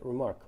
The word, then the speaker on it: RMRK: remarks and that's why the protocol is called remark rmrk pronounced remark uh what the way